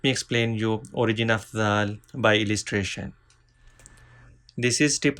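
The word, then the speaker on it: ذال: Let me explain you origin of zal by illustration. This is tip of tongue. These are front teeth. Start using tip of tongue by touching edge of front two teeth. From here we can pronounce zal.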